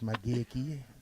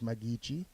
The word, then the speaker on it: Magichi: We got two pronunciations. First we were told it's Mageki. Now it's Magichi.